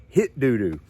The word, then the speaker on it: Hitdudu: come to find out i was pronouncing it right but the brand name is straight up hit doo doo i reached out to